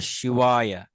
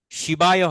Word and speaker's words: শিবায়: অর্থাৎ এখানে আসলে ওয়া বলতে এখানে ডব্লিউ এর মতো উচ্চারিত হবে।